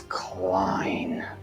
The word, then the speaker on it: Clien: It's Clien.